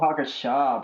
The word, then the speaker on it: Hakusho: Let's go watch some Yu Yu Hakusho, bruh.